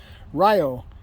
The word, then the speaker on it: Rayo: the dogs pronunciation it was actually spelled r-a-y-o Ryo is how it's pronounced I guess it means lightning in Spanish